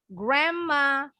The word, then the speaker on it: Grandma: ya karena ada sepasang perhatikan pengucapannya d nya ini dua-duanya silent nggak bunyi memang tapi ini huruf n-nya berubah bunyi jadi m Ya Grandma jadi nggak bunyi n Ride lanjut lagi